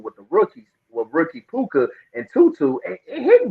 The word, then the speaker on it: Puka: pooka's day I didn't know his name was puka you know I thought people were mispronouncing his name I was like is that okay but I I apologize it's poker I'm sorry right there that's sound like a